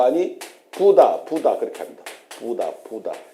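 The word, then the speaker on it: Buddha: 그렇게 합니다 부다 부다 요거 좀 세게 저기 액센트를 두서 부다 부다 우리처럼 다 붙다 붙다 그것은 아마 영어식 발음이라고 생각할 수 있는데 현재가 보면은 인도 같은데가 보면은 부다 부다 이렇게 얘기를 한다는 거 그걸 알아두시고 그래서 우리가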